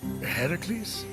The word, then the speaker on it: Heracles: you doing there that thing with your voice Heracles yeah that that is how it's supposed to be pronounced seems like a lot of work but